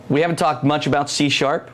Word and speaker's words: C#: Okay, so C#. It's pronounced C#, and that's why I keep saying C#. It's interesting we have that on the slide. It looks like C pound is why. That's right.